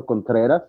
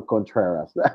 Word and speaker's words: Contreras: With Spanish pronunciation, my name is Contreras, but you can go with Contreras.